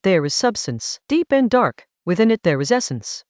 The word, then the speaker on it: De: De in Chinese, pronounced da.